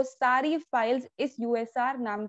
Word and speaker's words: usr: अब यहाँ पे USR यूजर नहीं है, ये USR करके ही इसे प्रोनाउंस करते हैं।